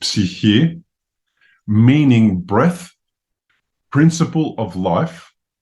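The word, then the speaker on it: ψυχή: Bill Gasiamis 7:47 So the word psychology was formed by combining the Greek word psych, which in Greek is pronounced psyche meaning breath, principle of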